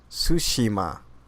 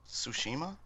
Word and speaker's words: Tsushima: Tsushima.